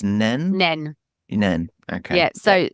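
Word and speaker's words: Nene: pronunciation of the place now I'm going to say nen from memory but I think I was told that it was nen nen nen okay yeah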